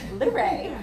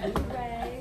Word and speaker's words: Luray: Oh, Luray. Luray. Luray. You have to say it right, Luray.